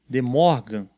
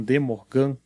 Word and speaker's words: De Morgan: leis a t e de morgan alguns pronunciam de mocam mas enfim faz leis